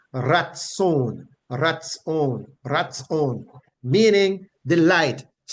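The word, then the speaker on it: ratsown: derived that word is transliterated from the Hebrew to English as r a t s o w n and it is pronounced Raton rat rat meaning the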